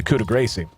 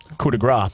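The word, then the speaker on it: coup de grâce: a second point into cuda gracie coup de grace i guess is the non-ignorant way to pronounce that once you get a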